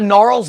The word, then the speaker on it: Gnarls: I haven't thought about Gnarls Barkley in a while no I was really it's a g-n-a-r-l-s yeah it's a it's a silent G I want to tell